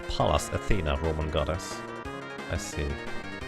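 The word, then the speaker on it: Pallas: see that is basically palas is Palace Athena Roman goddess I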